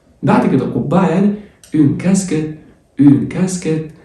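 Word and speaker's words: casquette: بعد كده قبعه يعني اون كاسكيت. اليو بعد الكيو ما بتتنطقش، والاي تي اي مقطع على بعضه بيتنطق ايه تبقى كاسكيت اللي هي كاسكيته.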